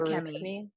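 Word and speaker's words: Feruchemy: Feruchemi. Feruchemi. Yeah, Feruchemi? like iron is ferrous. So it's Ferris, yeah, Feruchemi. right. Yeah. Feruchemi. I pronounce it with like the same intonations as like alchemy.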